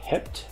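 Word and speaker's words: heb: so we havep remember the B is pronounced like a p y Hep hi Z and ha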